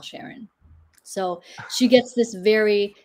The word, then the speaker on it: Charon: movie that um it makes sense so it's pronounced Sharon Sharon okay that's not the way it's I mean